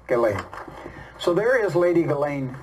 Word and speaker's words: Ghislaine: Ghislaine, I got to say it the way it is. Oh, to be fair, not the way it's spelled. Media is saying Ghislaine. Ghislaine. But Ghislaine. When I listen to her interview, she says her name is Ghislaine.